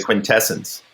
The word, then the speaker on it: Quintesson: You mean the quintessence? Yes. That's crazy. That's how Simon Furman pronounces it.